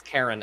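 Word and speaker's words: Charon: Oh, Yeah, it is exactly what That is, it's I think it's Karen actually is how to pronounce it, but yeah, because Chiron is like a hand.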